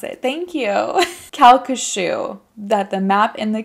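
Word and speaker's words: Calcasieu: you've already broken it down so i can pronounce it thank you kalka shoe that the map in the kalka shoe parish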